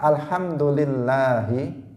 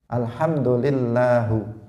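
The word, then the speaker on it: الحمد لله: Yang tidak merusak makna itu misalnya merubah harokat ha pada lafadz alhamdulillahi dari kasrah menjadi dhammah. Alhamdulillahu, dia mengatakan seperti itu.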